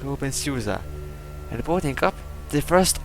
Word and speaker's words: openSUSE: Wait, it is pronounced open , right? Alright, so it is in fact pronounced like open .